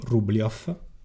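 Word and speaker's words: Рублёв: sono Kasper rude andrei rublioff pronunciato rublioff e Karen cassinov e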